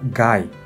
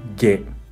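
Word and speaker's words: 外: Onyomi pronuncia gai, gai. O también ge, ge. Kunyomi, soto, soto. Y también hoka, hoka. Soto significa como exterior, como fuera, ¿no?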